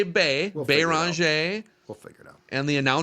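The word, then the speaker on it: Beringer: In the pronunciation guide, it is Yawan B-E-E, Bonj. Bonj. And when they had him say his name on like a social media video, I believe he said Bonj.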